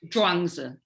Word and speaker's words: Zhuangzi: The dream is dependently you know, co-arising from How do you pronounce the name? Zhuangzi.